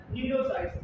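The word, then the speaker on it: cnidocytes: इसकी स्पेलिंग होती सी साइलेंट होता है, नीडोसाइट्स।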